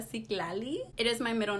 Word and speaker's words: Citlali: Se pronuncia Citlali.